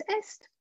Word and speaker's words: est: Mais attention, parce que ici, il faut prononcer le S, T et le D.